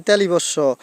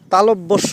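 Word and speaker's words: তালব্য শ: যেমন আরো একটা বর্ণ আছে আমরা সবাই বলি তালিবস পেট কাটা মধ্যান্যস আসলে কি এগুলোর এই উচ্চারণ হবে না তালিবস হবে না তালব্যস হবে আর পেট কাটা মধ্যান্য পেট মধ্যস্য হবে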